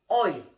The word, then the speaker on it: hoy: La H in Spanish have no sound whatsoever, okay? So, por ejemplo, hola, hello. Hoy, today, is not hola or hoy.